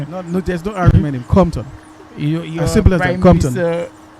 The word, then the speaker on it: Compton: Lucia, John Compton. John Compton. Yes. So the P is silent. Just said Compton. Simple as that.